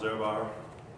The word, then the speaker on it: Ehrbar: And for those of you that did join us late, this is Hans Ehrbar, pronounced correctly?